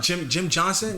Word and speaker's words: Jim Johnson: Jim Johnson, that's how you say his name.